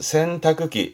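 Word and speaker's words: 洗濯機: 발음은 센타크기.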